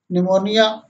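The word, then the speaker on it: pneumonia: यदि शब्द पी से शुरू हो और उसके तुरंत बाद ऐसे एन आए तो पी साइलेंट रहता है। साइकोलॉजी मीन्स मनोविज्ञान, साइकोलॉजिस्ट मीन्स मनोचिकित्सक, साइको मीन्स मानसिक, निमोनिया।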